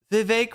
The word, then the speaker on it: Vivek: And so anyway, so like that was not that 2020 was any better with De Sanctimonious and Vivek rhymes with cake.